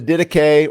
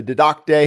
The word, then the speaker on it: Didache: We know that, the Didache or the Didacte, however you want to pronounce it, early church writings, fasting was a part of their lifestyle.